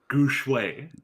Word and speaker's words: Gu Shui: Gu Shui. Okay, got it. Gu Shui. Think Feng Shui, but with Gu.